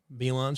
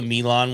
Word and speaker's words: Milan: this on, I'm like, I'm not putting the Milan one on, or Milan. No, it's Milan. You said it right the first time.